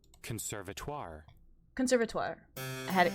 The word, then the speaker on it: conservatoire: How do you say Conservatoire.